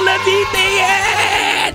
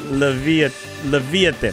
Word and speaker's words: Leviathan: We got the mythic Levitian! Or am I saying it right? Leviathan.